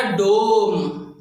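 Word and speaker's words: dumb: सो ये वर्ड हुआ डोम, गो का वोवल आ रहा है इसीलिए, ठीक है फ्रेंड्स। नेक्स्ट एग्जांपल है हमारा डम। इसमें जो बी जो है ना, ये साइलेंट रहेगा इंग्लिश वर्ड के अंदर।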